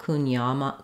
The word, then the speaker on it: Kouign-amann: NG into the sound you can also make this more of a schwa kunyama kunyama kunyaman kunyaman but trying to keep it a little ah like here in the middle syllable is more accurate as well so next time you're